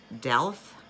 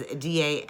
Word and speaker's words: Daleth: Her Hebrew letter is Delph.